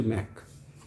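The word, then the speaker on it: Mach: কথার পরিপ্রেক্ষিতে এগুলো বলছি ম্যাক ম্যাক এটার উচ্চারণ হচ্ছে ম্যাক ম্যাক ম্যাক স্পিড কাকে বলে জান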